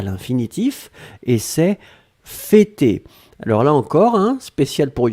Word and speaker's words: fêter: F-E, accent circonflexe, T-E-R. D'accord? Fêter, et on prononce bien le pour l'accent circonflexe.